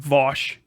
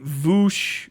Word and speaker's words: Vaush: So, it's like, that's the only way you can make that sound, Vosh.